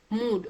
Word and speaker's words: mood: this food and mood they contain a double O we don't see any u sound here or o sound here but how do we pronounce it we pronounce it using this sound so this becomes food mood okay and then look